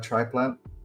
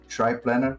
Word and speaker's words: triplanar: I play some nice features there, like a triplan. I don't know how to pronounce correctly. Yeah, triplanar. Triplanar. Okay, yeah, I placed there, so very handy when building environments.